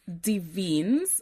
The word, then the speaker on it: Des Vignes: My surname it is pronounced Deans. De. So, the first S, so it's D E S and the first S is silent. Um, De is actually French.